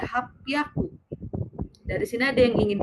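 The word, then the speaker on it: 八百: Sedangkan kalau 800 dia jadinya hapiaku.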